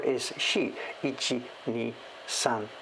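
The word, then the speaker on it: 四: One of the ways to pronounce 4 is shi. Ichi, ni, san, shi, go, roku. And shi is another pronunciation for the word death, to die.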